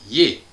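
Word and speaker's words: -iez: Et puis la deuxième personne du pluriel, vous, où le verbe se termine par IEZ, que l'on prononce yé.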